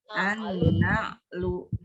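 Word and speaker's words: النعل: Na'lun pakai ain ya. Jadi an-na'lu.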